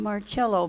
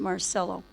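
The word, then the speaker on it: Marcello: Carlos mark celo or some call him marello because they didn't know that he pronounced it Marcelo the his car you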